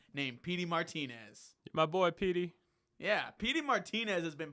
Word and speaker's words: Pity: And I think this guy's name is spelled like Pity, P-I-T-Y. It's pronounced like Petey from Remember the Titans.